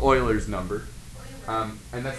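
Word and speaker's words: Euler: number is called yeah that's right it's called Oilers number um and that's how you pronounce that Leonard Oiler was a Swiss mathematician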